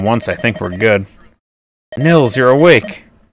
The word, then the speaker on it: Nils: I think we're good Nils you're awake it is Nils right it's not Niles okay guys how do